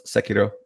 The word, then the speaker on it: Sekiro: Let's Sekiro.